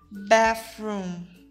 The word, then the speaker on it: bathroom: Eu não sei se eu já falei para vocês, mas o TH, quando estão juntos no meio de uma palavra, ele tem o som de F. Então, a pronúncia vai ficar bathroom.